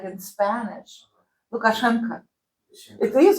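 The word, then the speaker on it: Лукашенко: So all of this O, but we don't pronounce O. We pronounce it like reduced, and depending on the region, they have to be stretched toward A or toward or, but it's still reduced.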